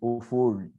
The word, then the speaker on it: Ofori: Justice Ofori, but no, it is Dr.